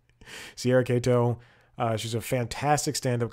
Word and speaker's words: Katow: name it's Sierra Kow Kato excuse me don't pronounce it the way that is written Chad yes I spoke